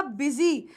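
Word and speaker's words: busy: तो आ नहीं रही, तो बेटा यहाँ पर बी को हम बी की तरह प्रोनाउंस कर रहे हैं, इसीलिए ये वर्ड क्या हुआ, ये वर्ड हुआ बिजी, और याद रखना मैं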